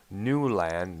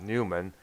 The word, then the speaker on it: Newland: it gets appearances by paul newland not newman it's a this one this one is spelled n-e-w-l-a-n and a couple of